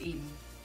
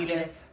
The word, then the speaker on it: Eden: Her name is Eden. E-D-E-N. Like the garden. Not Edith.